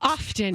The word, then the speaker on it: often: I don't like pronouncing the T and often. I I like the silent often. I like the I like I I like often. I I I'm an often person.